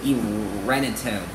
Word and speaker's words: Irenetone: And her first name is Irene, but to make it fancier, I changed it to pronounce it Irenetone.